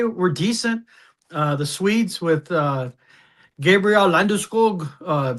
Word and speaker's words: Landeskog: The Swedes with Gabriel Landeskog, pronouncing his name in real Swedish.